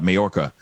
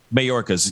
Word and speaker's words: Mayorkas: press briefing with uh majorca um hopefully i'm pronouncing his last name but anyway uh right marcus mayorkas yes thank you mayorkas so he's